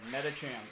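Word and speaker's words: Medicham: Metacham.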